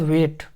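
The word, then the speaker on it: weight: उसके बाद वेट, यहाँ पे जी एच साइलेंट है, जी एच को कुछ नहीं पढ़ रहे हैं, एंड डब्लू को वा पढ़ रहे हैं, और ई एंड आई को यहाँ पे ई नहीं ए की मात्रा पढ़ रहे हैं, तो वे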